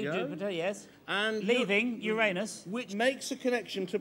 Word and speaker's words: Uranus: We begin the year with a conjunction of Jupiter, that's my rather large planet and Uranus, careful how you pronounce it. Uranus!